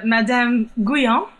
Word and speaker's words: Madame Guyon: the last Satanic priestess, Madame Guyon, or something. Can you tell us a little bit about that? Sure. Madame Guyon, as it would be pronounced in French.